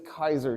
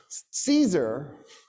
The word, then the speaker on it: Caesar: The reason that battle took place is because of what a guy named Gas Julius Kaiser did. You guys incorrectly call him Julius C. Caesar, I'm going to do it, too, because it's fun.